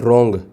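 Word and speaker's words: wrong: Choose the silent letter in the word रॉन्ग। तो रॉन्ग में देखो आपको डब्ल्यू कहीं इसका उच्चारण नहीं हो रहा है।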